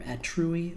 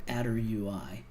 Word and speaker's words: attrui: is called attr UI pronounced either at true E or a derp UI and you connect this